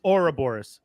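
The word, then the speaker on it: Ouroboros: thought it was or I thought it was or Boris I thought that's how you pronounce but I could be wrong I'm don't listen to on pronunciation no you are right I forgot it is Ora Boris thank you uh so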